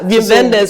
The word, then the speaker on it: Wim Wenders: Je pense que c'est bon, oui, ça se prononce comme ça. Wim Wenders.